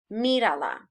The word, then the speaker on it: mírala: Okay, look at it, the statue, move my little thing, mírala. Okay, so accent on the I. So if I have mira is my verb, A's last syllable, the I is the second to last syllable, mírala.